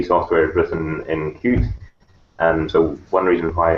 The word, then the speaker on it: Qt: three times as much which is great it's pronounced cute is one word so it's a way to